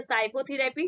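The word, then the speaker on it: psychotherapy: उसके next example देखते हैं, एस से पहले पी आया इसमें तो इसको हम पढ़ेंगे साइकोथेरेपी। ठीक है, तो एन और एस के बाद जो पहले जो आता है पी क्या होता है आपका, साइलेंट होता है।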